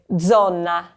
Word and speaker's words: zona: The second one, the Z is starting the word. So remember that z sound. So you'd say zona.